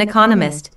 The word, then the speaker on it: economist: Smith is an economist notice the stress on Economist this content word has new information so it is emphasized there are four syllables in Economist with the stress on the second syllable Economist he just finished writing